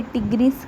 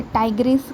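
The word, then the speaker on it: tigris: line और Panthera टाइग्रेस अब कोई इसे टिगरिस कहेगा कोई सेसे टाइग्रेस कहेगा तो भाई आप अपने अकॉर्डिंग बोल लेना इसकी प्रोनाउंस कर लेना ठीक है पैंथेरा ली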